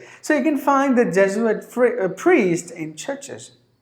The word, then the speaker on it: Jesuit: j zu it sorry there are 3 syllables in this word death zu it Jesuit Jesuit a member of the Roman Golic church just do it so you can find the Jesuit free a priest in